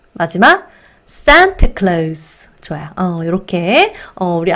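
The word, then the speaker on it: Santa Claus: 읽어 보면서 외워보도록 할게요 산트 클로즈 한번 더 산타클로즈 마지막 sant clace 좋아요 이렇게 우리 앞으로는 산트 클로즈 이렇게 발음해 주시면 좋겠습니다 그죠네 자 그 다음에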